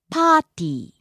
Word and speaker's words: パーティー: 仕事 Next, パーティー party. パーティーパーティー Starts high, drops low on the second syllable, and stays low.